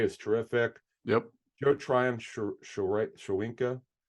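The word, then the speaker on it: Tryon-Shoyinka: Joe Tryon Shawinka Shoyanka.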